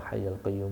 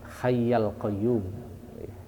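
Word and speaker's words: الحيَّ القيوم: Astaghfirullahaladzim alladzi la ilaha illa huwal hayyul qayyum wa atubu ilaih. Bacanya hayyal qayyum. Itu lebih tepat bacaannya, hayyal qayyum secara ilmu tata bahasa Arab.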